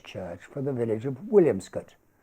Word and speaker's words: Williamscot: for the village of williamscot locally pronounced wilscot which we will visit